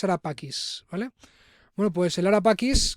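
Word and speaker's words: Ara Pacis: To whom was Arapachis dedicated to? ¿A quién estaba dedicada el Arapacis? Que su pronunciación correcta en latín creo que es Arapakis, ¿vale?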